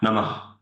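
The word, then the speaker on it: नमः: It's an exhalation which sounds like a Ha. Namah, namah.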